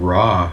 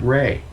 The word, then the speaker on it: Ra: say yeah absolutely even raw from ancient egypt it's not even raw he pronounces it rey right and he looks